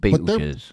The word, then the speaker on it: Betelgeuse: Yeah, somebody slapped me across the face and said it's pronounced Betelgeuse.